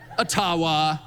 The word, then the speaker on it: Ottawa: And I I called it Atawa many many times and I would get these outraged. You don't EVEN KNOW ENOUGH ABOUT OUR COUNTRY TO PRONOUNCE THE NAME CORRECTLY. And of course, it was intentional until I received a very sincere email from an Ajiua First Nations leader who said, "Actually, it's it's called a tawa."